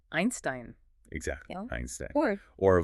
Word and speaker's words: Einstein: The combination E-I. The second letter is I. How do you say the letter I in English? I. So EI sounds like I. Einstein.